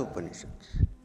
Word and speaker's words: upanishad: is at a premium upanishad is made of three syllables the first one is oppa second one is knee when the third one is shut so what does UPA